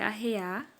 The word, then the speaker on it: arrear: Só que a pronúncia original é arrear, quando vai colocar arreios no cavalo, ou arriar, quando se refere a cair, até desmaiar, como nós costumamos falar na nossa região.